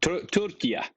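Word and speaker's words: Türkiye: How how he pronounced that Turkia, which is how they said it in Turkish.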